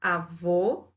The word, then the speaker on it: avô: Então, avô tem o som fechado, avó tem o som aberto.